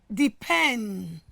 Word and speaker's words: depend: Example, the word depend. As you can see, the stress has moved from the first syllable into what? The second syllable.